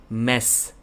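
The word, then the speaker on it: Mech: name is pronounced and he told me it is mess mess and it is written as m-e-c-h and everyone even i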